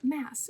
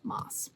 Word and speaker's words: Maas: Maas interview that I have been pronouncing her last name wrong the entire time. It's not Mass, it's Moss.